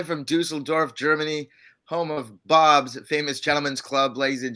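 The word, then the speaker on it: Bobs: ah here we go it's called boobs in munich uh boobs but it's spelled b-o-b-s so i pronounce it we pronounce it bob's here uh but you're going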